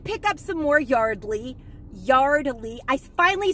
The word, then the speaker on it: Yardley: over i did pick up some more yardley yardley i finally said it right and it's finally